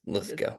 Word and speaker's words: Lithgow: Yes, yeah, Lithgow, like the actor John Lithgow. I don't think there's any relation, but it is pronounced Lithgow.